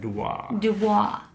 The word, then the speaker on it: Dubois: It's French. You gotta say it like that. Dubois.